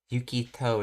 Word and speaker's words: Yukito: Yukito is how she pronounces it.